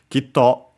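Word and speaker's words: きっと: This one is unaccented, so be careful. Kitto, if it's an onomatopoeia, literally would be with ki, as in a sound kit.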